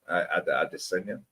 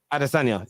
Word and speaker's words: Adesanya: For I can't pronounce the guy's name. Adesanya. Adesanya.